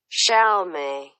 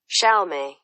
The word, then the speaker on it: Xiaomei: Xiaomei. Xiaomei. Xiaomei. Xiaomei. Well, it's easier than I thought first. The X at the start is scary.